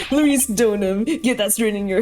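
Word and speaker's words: Deauxnim: That's Donum! Larice Donum!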